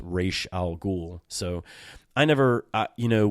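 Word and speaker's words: Ra's al Ghul: good but his pronunciation is the name is pronounced R Al ghoul so I never you know when it's r a apostrophe s and you know I'm a young kid I always saw his name as razal ghoul right I always saw it as r a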